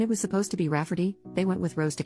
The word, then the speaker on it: Rayfarty: wanting to name my niece Rayfarty, pronounced Rafferty, not at all like Rayfarty.